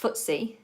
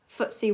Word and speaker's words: FTSE: those particular markets so the FTSE is pronounced footsie footsie 100 and in France